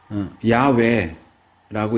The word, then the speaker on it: 야훼: 이 구약 학계에서는 야훼라고 읽는 것이 아마 원래의 발음에 가장 가까울 것이다 라고 이제 보지만 이것도 100% 확실한 건 아닙니다.